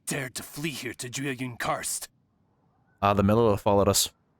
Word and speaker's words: Jueyun: Jueyun.